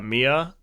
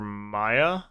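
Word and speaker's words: Mea: and that didn't help i think she introduced herself as uh mia and kirk kept calling her maya so i don't let's go with mia yeah and it's spelled m-e-a and then the number three so i'm just gonna call her mia but uh she questions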